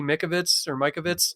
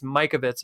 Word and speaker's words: Mikovits: Like, man, all those doctors that were murdered for talking about that thing, and Judy Mikovits, sorry, I've always pronounced her name wrong, but it's Mikovits is correct.